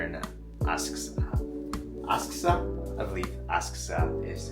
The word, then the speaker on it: Asakusa: I believe Asakusa is how you pronounce it.